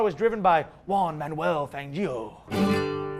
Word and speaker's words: Fangio: Anyway, back in the day, the car was driven by Juan Manuel Fangio. Fangio. Fanio. I said it right first.